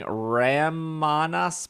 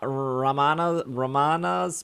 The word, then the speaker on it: Ramanas: Introducing Ramanas Park. How do you say it? Ramanas? Ramanas? Why Ramanas not? Park? Is it R-A, all A's? Ramana, like banana.